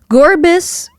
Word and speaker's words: Gorbis: That's Gorbis. Although Gorbis, uh, spelled like gore, G- o r e, and then bis, b y ss, like gore and abyss. Gorbis.